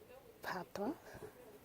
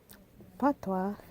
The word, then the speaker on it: patois: Now, Patois is pronounced P-A-T. So then it's like pa or pot, and then the toi, T sounds ta, wa, toi, toi. So then you have patois or patois. Doesn't really matter each one you make.